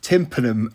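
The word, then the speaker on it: tympanum: lentil Tri Tri trar correct pronunciation alert it is tanum of course bad thir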